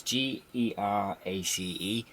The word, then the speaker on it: Geraci: I hope I'm pronouncing that right. It's Gerace.